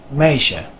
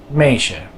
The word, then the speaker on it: meisje: EI is pronounced the same way as the IJ, as in the word meisje, meisje.